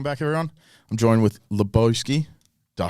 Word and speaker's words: Loboski: control right welcome back everyone I'm joined with laosi did I say it right got right yes